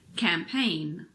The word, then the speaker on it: campaign: are Nat no gnome it's also usually silent if GN is at the end of a word like these campaign design foreign rain